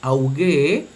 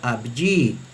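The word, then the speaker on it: αὐγή: Por lo tanto, esta palabra que significa luz brillante, en la pronunciación erasmiana se leería auge, auge, mientras que en la pronunciación reocliniana se leería abji, abji, luz brillante.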